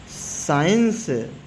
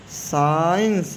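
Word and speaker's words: science: अगर सी के पहले एस हो तो सी साइलेंट होता है। जैसे सी के पहले एस है तो इसको सेंट पढ़ेंगे। सेंट नहीं पढ़ेंगे। सेंट साइंस सी के पहले एस है ना?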